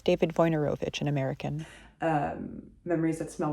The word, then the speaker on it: Wojnarowicz: I consistently pronounce his name slightly funnily in this video. It's David Wojnarowicz, an American.